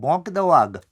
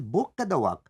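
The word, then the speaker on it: Boca da Vaca: a bokadawak and very sarcastically people don't know how to pronounce things in Portuguese they call it bok dawag a rear of a tiger no it is bokwag mouth of a cow that is because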